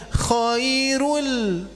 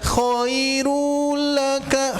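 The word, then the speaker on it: خَيْرٌ: Makanya ibu harus membacanya kohairul. Nah, itu tidak koiru laka koiru laka. Hati-hati lunya jadi kepanjangan tapi kohairul laka gitu ya.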